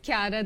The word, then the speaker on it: Chiara: It's Chiara. I got it wrong. But the Italian one would probably be Chiara. No, it's Chiara. The CH is pronounced as a K in Italian.